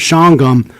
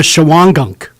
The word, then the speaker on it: Shawangunk: made the mistake of calling the town of shangham the town of chawangunk i got supervisor volks great guy he came